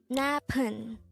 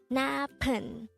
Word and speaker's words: 나쁜: 나쁜, 나쁜. This is pronounced as a two-syllable word. The first syllable is na, and the second syllable is pun. Pronounce it with me. 나쁜, 나쁜.